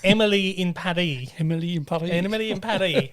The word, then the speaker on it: Paris: everyone's pronouncing it wrong it's actually supposed to be pronounced in a french accent so that it rhymes so it's emily in paddy himalayan probably enemy and